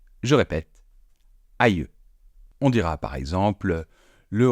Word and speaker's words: aïeux: Mais on peut aussi, au pluriel, l'écrire de cette façon, et dans ce cas-là, attention, ça se prononce aïeux. Je répète, aïeux.